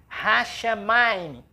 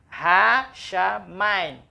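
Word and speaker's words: השמים: A sílaba é ra, chá, ma, im. Hashamayim. Hashamayim.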